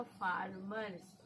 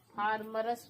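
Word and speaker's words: farmers: किसान का स्पेलिंग हो गया फार्मर्स, FARMER। क्योंकि हम लोग हैं इसीलिए हम यहाँ पे भी एस लगाएंगे। FARMER इसको पढ़ेंगे मर, एस को पढ़ेंगे स। फार्मर्स, फार्मरस नहीं पढ़िएगा, फार्मर्स।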